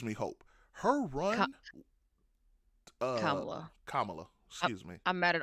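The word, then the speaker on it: Kamala: People saying that Camala would have been a better choice, which is also what gives me hope. Her run uh Kamla, excuse me.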